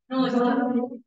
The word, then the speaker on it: nous: Oke, bacanya? Nous. Bukan anus ya?